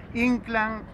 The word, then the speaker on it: Inclán: muy lindo sobre omar han sido habla de inclán con acento en la y como solíamos decir en el